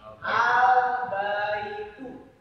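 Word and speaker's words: البَيْتُ: Cara pengucapannya yang tadinya baitun berubah bunyinya menjadi al-baitu. Gak ada n-nya, gak ada tanwinnya.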